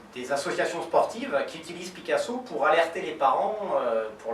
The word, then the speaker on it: PickAsso: Picasso, ça s'écrit pic, comme choisir en anglais, P-I-C-K-Asso. De quoi s'agit-il?